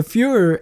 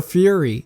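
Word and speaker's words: Führer: mental disability I mean he pronounces ash wit as out with and the Fuhrer as the fury and he's corrected of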